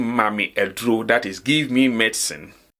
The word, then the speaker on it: ma me aduro: But this is not how you will say it. I'm only saying this in order for you to get the pronunciation very well. We will say mami aduro, mami aduro, mami aduro.